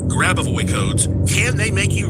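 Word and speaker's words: Grabovoi: Grab away codes.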